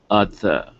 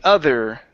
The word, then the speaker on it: other: okay right here so instead of saying under other day it's of other otter otter d okay so we're going to say the other the other day ok ok and ok